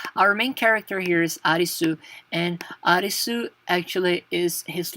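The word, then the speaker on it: アリス: Kuni means country so arisu is the pronunciation for Alice okay so it's Alice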